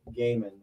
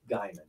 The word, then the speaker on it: Gaiman: and just to clarify it's neil gaiman not neil diamond sorry i'm just saying that there are people in the universe who pronounce it diamond i just don't think that's right okay you don't think